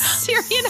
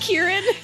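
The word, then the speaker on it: Ciarán: We've been saying that the ass butthole white that is Syrian Hines. Sorry. His name is actually pronounced Kieran.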